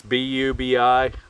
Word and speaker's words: Bubi: we're talking about the booby bottle i'm not sure pronunciation it's bubi the u has the two marks over it so take it how